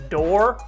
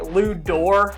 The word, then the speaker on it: Dort: that lou's name is actually pronounced door because he's french canadian but i figured if i'm calling the guy lou door this whole video then